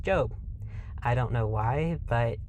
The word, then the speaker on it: Job: side note job is spelled job but is pronounced job i don't know why but i literally can't listen to a video if they pronounce a job it just irritates me so what is the